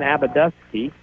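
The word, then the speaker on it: Abbadusky: That is Cheyenne Abadusky. A-B-B-A-D-U-S-K-Y. Puts Alvarado on top 2-0. Believe it or not, spelled like it sounds.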